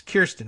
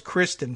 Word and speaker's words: Kirsten: It's Kirsten, right? I thought it was Kristen for the longest time. And then on further examination, saw that the Y came before the R.